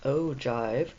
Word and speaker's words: ogive: the following chart, saying, "Here is the ogive," pronounced ogive, before leaving abruptly.